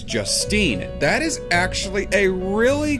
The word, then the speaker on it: Justine: of wisdom as well the S is highlighted in her name so it's just Steen not just Stine there's no emphasis on the e so your name is Justine that is actually a